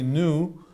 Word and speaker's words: nu: it a neat v it's actually Greek letter nu and we sometimes spell it this way new so if you want to be educated say new but it's totally fine to call it V because it looks like a V and V or new